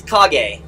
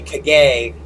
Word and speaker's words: Kage: Oh yeah, pronounce my name. It's Kage. Murph says it correctly. Murph is the most accurate. And then Rich and Ivy say Kage, which sounds fun. It's, I guess, technically right, but it sounds funny because they say they emphasize that second syllable, Kage instead of Kage.